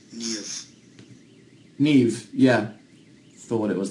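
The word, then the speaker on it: Niamh: This is an Irish name, and it's pronounced Neve.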